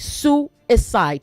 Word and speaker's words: suicide: With say suicide, not suicide. Suicide. There are three syllables.